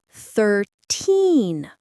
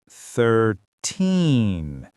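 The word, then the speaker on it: thirteen: 13 13 the stress is on teen.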